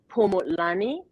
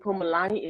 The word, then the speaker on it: Phumulani: you they can find me on www dot pomo lani dot o rg and pomelani is spelled p like paul h-u-m-u-l-a-n-i dot o-r-g and